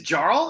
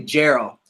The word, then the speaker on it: Jarl: super Frost Josh and is Jarl is is that how you pronounce it dude actually Geral let's make a long